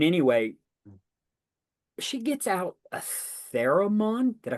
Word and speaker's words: theremin: And anyway, she gets out a theremin. Did I pronounce that right?